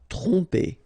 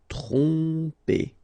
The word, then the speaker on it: tromper: Tromper. Okay, same thing here. OM, so, and after that you get a consonant, so technically you will pronounce it like a nasal here. OM will go like on. Tromper.